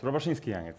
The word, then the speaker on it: Robaszyński-Janiec: Oh, you're not pronouncing my name, yeah? Okay, let's go. Robaszyński-Janiec? Almost, Robaszyński-Janiec.